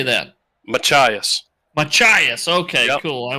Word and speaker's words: Machias: Machias.